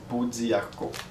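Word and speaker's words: pau d'arco: comment que ça s'écrit pot di Arco c'est souvent comme ça que c'est prononcé poarco alors ça aussi c'est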